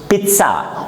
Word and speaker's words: pizza: It is pronounced in two syllables. Again, the pronunciation for this word is pizza.